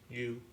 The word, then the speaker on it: Xu: How do you say XU in Chinese? U. U.